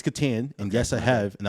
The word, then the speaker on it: Catan: it's pronounced Catan. Is it Catan? Okay. Yeah, it's Catan, and yes, I have, and I will destroy you.